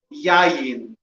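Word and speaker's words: יין: Yayin. Yayin. Yayin is spelled, it's 3 letters.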